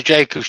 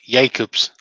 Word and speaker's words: Jacobs: Seth's put, if it's a Jacob's Chuck, it would be pronounced Jacobs.